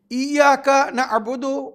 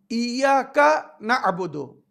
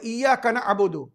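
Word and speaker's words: إِيَّاكَ نَعْبُدُ: শয়তানের নাম মালিক ইয়ামিদ্দিন ইয়াকা নাবুদু ইয়াকা নাস্তাাইন সমস্ত শব্দগুলো আলাদা আলাদা সুন্দরভাবে উচ্চারণ করতে হবে ইয়াকা নাবুদু যদি কেউ তাড়াতাড়ি বলে ইয়াকাবুদু ইয়াকা ইয়াকা আলাদা না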